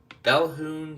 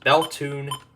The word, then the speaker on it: Bethune: Next is WWF 77 out of Bethune, Colorado. That's actually how it's pronounced. Bethune, Colorado.